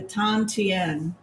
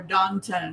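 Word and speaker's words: 丹田: and below it is the tan tien or dante depending upon how you pronounce it the third chakra is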